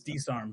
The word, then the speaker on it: DSARM: you say that DSR it's D arm so like my people would call me dsarm because and then the YT